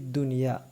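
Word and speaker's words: الدنيا: വൽ ബനൂന സീനത്തുൽ ഹയാത്തി ദുനിയ ഇവിടെ ഹാ ന്റെ ഉച്ചാരണം സായി യിന്റെ ഉച്ചാരണം പിന്നെ ഇവിടെ സുക്കൂനുള്ള നൂനാണ് അപ്പൊ എന്ത് ചെയ്യാൻ പാടില്ല മണിക്കാൻ പാടില്ല ദുന്യ എന്ന് കൃത്യമായിട്ട് പറയണം ന് എന്ന് വ്യക്തമായിട്ട് കേൾക്കണം ദുന്യ ഇവിടെ നമുക്ക് നിർത്താം പിന്നെ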